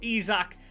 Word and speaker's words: Isak: be a Swede Striker not kyoceras or yokres I'm told it's pronounced but izac he was at West